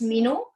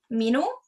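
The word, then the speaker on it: minu: say hello and introduce yourself so mai is mino mino and the name is and then is is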